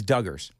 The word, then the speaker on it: Duggars: Yeah, I mispronounced. It's Duggars, but they owe WSMV a big thanks.